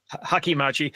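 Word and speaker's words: hachimaki: you know yeah um a hacky matchy headband literally helmet scarf yeah Hakim Machi yeah there's you're saying it right the syllables are pretty straightforward with that so I don't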